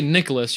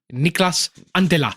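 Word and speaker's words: Niklas Anttila: And also, when you say, you can't say Nicholas, you got to say Niklas Antela.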